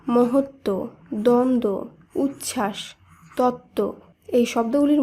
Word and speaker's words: মহত্ব: শুদ্ধ উচ্চারণ হবে সান্ত্বনা একইভাবে মহত্ব শব্দে তয় তৈয় ব যুক্ত ব্যঞ্জনের সঙ্গে ব ফলা যুক্ত রয়েছে তাই শুদ্ধ উচ্চারণে ব ফলাকে বাদ দিয়ে শুধুমাত্র তয় ত যুক্ত ব্যঞ্জন সহযোগেই শব্দটি শুদ্ধ উচ্চারণ করতে হবে তাই শব্দটি শুদ্ধ উচ্চারণ হবে মহত্ব একইভাবে দ্বন্দ উচ্ছ্বাস তত্ত্ব